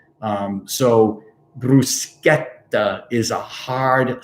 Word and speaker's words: bruschetta: how you pronounce it it doesn't make the sh sound c h e doesn't make the sh sound um so bruschetta is a hard sound